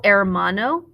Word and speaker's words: hermano: tienes for brother it's el air mono the h is silent for sister la hermana